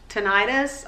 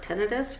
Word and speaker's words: tinnitus: recently, I have horrible tinnitus or tinnitus, whatever you call it. I hear it pronounced both ways, kind of like thesaurus, who knows.